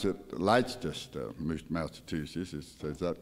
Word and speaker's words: Leicester: I pronounce it Leicester, Massachusetts. Is that correct, Gary? Is that even close? Leicester, Massachusetts.